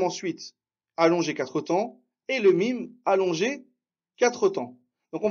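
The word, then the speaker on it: لام: Attention, Amel Saoudi, ce n'est pas « le », c'est « lem ». Pourquoi « lem » Parce que on ne dit pas « le » parce qu'il n'y a pas de fatha ici. On prononce bien la lettre, d'accord?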